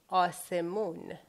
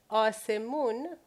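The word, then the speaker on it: آسمان: So this is A, this is the letter S, the sound S. This is me, this is U, and this is N. Well, asemun is sky.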